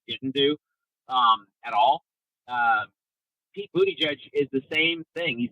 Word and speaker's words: Buttigieg: How do you say his name? Buttigieg. Okay, because I keep calling him Booty Judge.